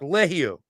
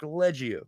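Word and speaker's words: Liegghio: got to look at Mark leio or Mark legio whichever way you want to say it Canada USA I'mma say it like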